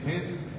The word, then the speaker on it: Case: Okay, Case? Is that how you pronounce it, by the way? Yes, Case, that's all right.